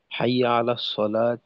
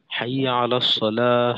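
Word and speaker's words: حي على الصلاة: এই দুইটার ক্ষেত্রে দেখা যায় যে অনেকে অক না করে হরকত দিয়ে বলে। যেমন হাই আলা সালাত হাই আলা সলা হাই আলাল ফালা হাই আলাল ফালাহ এটা হরকত দিয়ে উচ্চারণ করে। তো এখানে হরকত না দিয়ে অর্থাৎ আজানে যেভাবে বলতাম ওইভাবেই শুধুমাত্র পার্থক্য হলো যে একশে বলা যেমন হাইয়া আলাস সালা হাইয়া আলাস সালা হাইয়া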